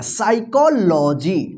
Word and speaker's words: psychology: यहां पे जो है ना पी क्या रहेगा, साइलेंट रहेगा, साइकोलॉजी, ठीक है, क्या रहेगा, साइकोलॉजी, ठीक है, मनोविज्ञान।